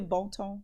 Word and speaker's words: Bonton: Am I pronouncing it right? Bonton. It's really Bonton.